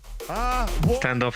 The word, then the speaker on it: Standoff: Standoff actually rhymes with Ianov, the name of Alleg Ivanov, the main man behind this standoff.